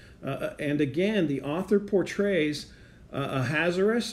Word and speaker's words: Ahasuerus: And again, the author portrays Ahasuerus. I know a lot of people want me to pronounce it a different way, so there's another way to pronounce the king's name. Ahasuerus, as tossed about by